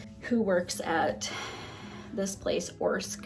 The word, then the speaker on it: Orsk: Essentially, we have this lady, Amy, who works at this place, Orsk. I think that's how you say it.